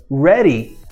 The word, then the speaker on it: ready: ter sons diferentes então na palavra Ready a gente pronuncia é nessas duas retriede então o desafio